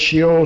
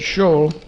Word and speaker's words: Sheol: have to say shio if you talk to hebrew and you said sheol he may not know what you meant but if you said show just like the e isn't there almost i remember years ago